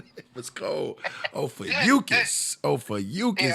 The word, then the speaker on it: Ophiuchus: Officious. Yeah, I probably said it wrong. I said Ophiuchus, my bad. I said the way he said it was cold. Ophiuchus.